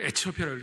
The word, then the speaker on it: 에티오피아: 일어나 가서 보니 27절에 에티오피아 사람 곧 에티오피아, 제가 에디오피아를 에티오피아라고 읽겠습니다.